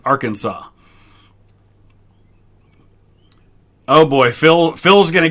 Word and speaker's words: Arkansas: It's Arkansas. It looks like it should be Arkansas, but it is Arkansas.